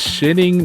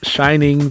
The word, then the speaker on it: Shinning: It is shinning, not shining, because of copyright holdment with Warner Brothers and Stephen King. So it is indeed shinning.